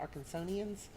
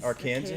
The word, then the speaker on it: Arkansans: for lack of the how do you say that, Arkansonians? We'll call 'em Arkansans? Arkansans.